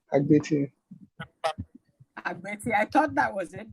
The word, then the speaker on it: Agbeti: Dennis Agbeti. Agbeti.